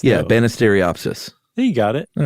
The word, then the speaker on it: Banisteriopsis: Yeah, but it's pronounced like it looks. Yeah, though. Banisteriopsis.